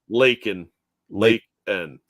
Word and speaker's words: Laken: Laken.